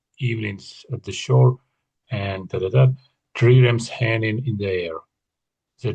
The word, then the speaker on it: trireme: I'm also in the habit of spending my evenings at the shore and triremes hanging in the air.